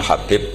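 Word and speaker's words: حبيب: yang nulis Abi Abdurrahman Habib asulami itu di harakatnya kitab itu ada yang nulis hubb Yang benar Oh giih yang benar itu bacanya habib habib itu asulami itu ikut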